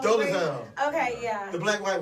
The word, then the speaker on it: Dolezal: How do you pronounce her name? Dolezal. Dolezal.